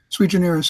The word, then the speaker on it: sui generis: sewer generous I said do you believe it was sui generis sui generis I'm sorry that's the pronunciation the pronunciation not see here and I said whatever